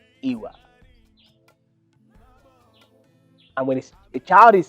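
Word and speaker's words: ìwà: be talking on i.w.a iwa is pronounced iwa and when a child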